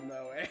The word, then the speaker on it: moe: No, it's it's pronounced moe.